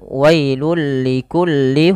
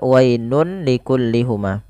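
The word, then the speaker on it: ويل لكل: lihat pada lafal bacaan wailul likulli humazatil lumazah pada lafal wailun ketemu dengan huruf lam ini masukkan tanwinnya kepada huruf lam jadi tidak lagi Dibaca wainun likullihuma tapi tanwinnya dimasukkan kepada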